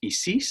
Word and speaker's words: Isis: as well we get isis which is pronounced isis apparently tefnut osiris and horus